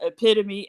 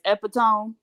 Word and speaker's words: epitome: enough to know when they mispronounce the word epitome as epitone did I say I